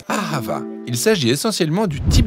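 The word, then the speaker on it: אהבה: pas à la règle on le prononce à ravin il s'agit essentiellement du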